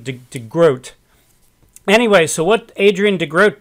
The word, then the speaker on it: de Groot: name Heisman they mispronounce I mispronounced the groats name and I was calling him DeGroot so I'll try during this video to call him de grote anyway so what Adrian